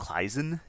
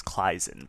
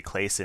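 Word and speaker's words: Claisen: So this would be pronounced kizen in German. Um so depending on who you talk to like you know I I feel like the proper way to pronounce this is claen but like I said I I know plenty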